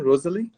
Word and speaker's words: Roselie: Is it right, the pronunciation, Rosalie? Yeah.